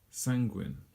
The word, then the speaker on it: sanguine: So sanguine, just 2 syllables, sanguine, and if you want it in normal alphabet, it's something like that, sanguine, sanguine.